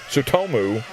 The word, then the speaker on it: Tsutomu: Yeah, the T is silent. Tsutomu Asahara.